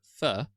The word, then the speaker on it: pho: because they'd heard people say pho, but I'd heard fur because of Jeremy Clarkson when they were in Vietnam. Uh, and he'd said fur, fur, sorry. And he he made it a point to say it correctly and read off all the ingredients.